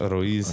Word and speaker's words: Ruiz: Don Miguel Ruiz, or how do you say Ruiz? I say that right? I think so. Yeah. I mean, Rocky. Ruiz. Ruiz. Okay. You got to roll it.